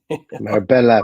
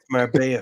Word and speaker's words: Marbella: Marbella, Paddy. You're pronouncing it all wrong. It's Marbella. There's clearly L's in there. Like Marbella for me.